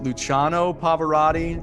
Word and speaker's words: Luciano Pavarotti: longest applause placido domingo and i will probably mispronounce several of these names uh is it luciano pavarotti did i learn correctly you said it right